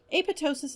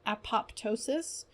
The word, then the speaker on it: apoptosis: Just as an aside, pronunciation of this word varies from apoptosis to apoptosis to apoptosis to apoptosis. All of these are commonly used, so just say it the way you like.